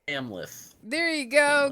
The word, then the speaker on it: Amleth: Amleth. There you go. Amleth.